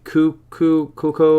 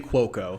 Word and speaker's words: Cuoco: that that's i don't remember is it kaylee cucco or something uh kaylee cuoco yeah yeah yeah pronounced she's yeah yeah yeah uh honestly king